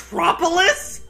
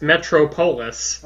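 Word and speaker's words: Metropolis: to your destination much propolis yeah that's our town it's pronounced metro polis not the town that's it's a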